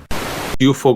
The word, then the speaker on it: Cuciuffo: Cuchufo, como lo pronunciaba él, nació en la ciudad de Córdoba el 1 de febrero de 1961.